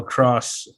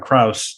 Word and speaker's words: Kraus: is 156 with Daniel cross cross I said it wrong the first time Krauss did it say right